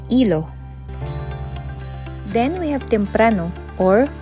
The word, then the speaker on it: hilo: It has the same spelling in Spanish, however, letter H in Spanish is always silent, so they pronounce it as hilo.